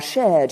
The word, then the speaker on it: shared: shared hard and work most brits will not pronounce the r sound but most americans will and proud of our shared european heritage we have shared in the heights of